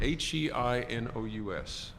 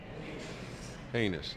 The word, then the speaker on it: heinous: uh um I'll have to spell the word h-e-i-n-o-u-s heinous no heinous Hennis highness you all you guys are all famous you were all the same you were all heinous I think on that and I think we